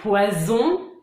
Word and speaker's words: poison: Pareil pour un poison, un poisson. Vous entendez la différence? C'est donc toute l'importance d'une bonne prononciation pour bien se faire comprendre et éviter des situations un peu gênantes.